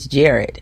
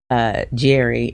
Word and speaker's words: Jared: when she is like, say it right. It's Jared, and I actually see and want to say Jerry, and it could just be because the names are very similar, but she's like, no, it's Jared.